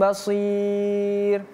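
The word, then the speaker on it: بصير: Wallahu yasma tahawurakuma innallaha samiun basir. 1 2 3. Wallahu yasma yasmau tahawurakuma. Innallaha sami bashir. Basir ya pakai shad.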